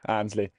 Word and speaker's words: Annesley: Yeah, I'm not too fussy on the pronunciation, yeah. But yeah, Annesley. I get a lot of, Annesley and all that stuff, but yeah, Annesley.